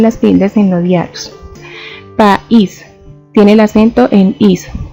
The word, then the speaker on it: país: Tenemos la palabra país. Como podemos notar, la pronunciamos en dos sonidos o golpes de voz por separado. Nosotros decimos país.